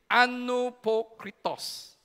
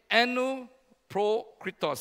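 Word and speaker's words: ἀνυπόκριτος: And can you pronounce this with me? Anupokritos. Okay? Anupokritos.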